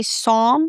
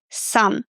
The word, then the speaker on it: some: country some I know that you see the O and you want to say some, but it's a some. If you struggle with the sound, think of the word cut. You know how to pronounce cut, right? And then say some. Cut, some. The same vowel sound.